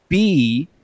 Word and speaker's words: bouclier: B-O-U-C-L-I-E-R. Bouclier. Are there any like accentos or umlauts? Accents or umlauts or any of that fun stuff. But bouclier, and you say that all Frenchified, right?